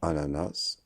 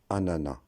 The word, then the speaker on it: ananas: Malgré que ce nom se termine par un S, ce S est une lettre muette. On ne dira pas ananas, on dira ananas.